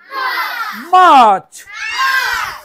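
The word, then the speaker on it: March: ফেব্রুয়ারি ফেব্রুয়ারি ফেব্রুয়ারি ফেব্রুয়ারি ফেব্রুয়ারি February মার্চ মার্চ মার্চ মাছ মাছ মাছ মাছ সবাই ছাড়েন আমি মাছ কইতাছি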